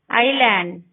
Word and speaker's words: island: S is not pronounced before I. Island, islet.